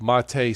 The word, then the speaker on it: MATE: So if you are a Windows user, check Mate, spelled M-A-T-E, mate, but it's pronounced Mate, the Mate desktop.